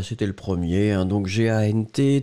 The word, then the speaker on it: gant: le premier, hein, donc G-A-N-T, T final qui n'est pas prononcé, G avec, en tout cas suivi du A, on se souvient que le G va être prononcé comme un G-G-G-G, donc vous avez après uniquement la nasale, en, en, en, en, G-A-N-T, gant, gant, gant, gant, d'accord.